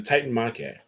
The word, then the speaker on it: Titanomachy: Titan War, or the Titan, how do you pronounce it? The Titan Mache? Yeah, the Titan Mache.